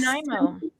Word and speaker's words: Nanaimo: Nanaimo? Yes, DC? you said it. Good for you. Oh, yes. Nanaimo.